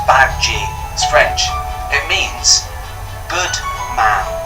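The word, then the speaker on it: Badguy: a tour manager to help them decide Dominic bad-guy Fozzie Bear couldn't believe that was really the tour managers named Dominic corrected him it's pronounced back gene his French it means good The Muppets not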